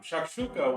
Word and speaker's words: Shakshuka: Um, Shakshuka was a uh the S is pronounced as a Z.